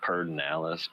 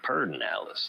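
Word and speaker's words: Pedernales: in that pair perdinalis they say perd they call it perdin alice but it's spelled p-e-d but they say per personalised i think it's p-e-d-e-r-n-a-l-e-s but they say perdinalis the pardon alice i'm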